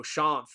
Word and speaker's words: Shanth: So it's it's Shan. It's Shawn with a th on it, basically.